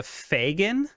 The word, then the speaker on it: Fagin: wink wink um you use a term the fagin can you spell that for me and what is that f-a-g-i-n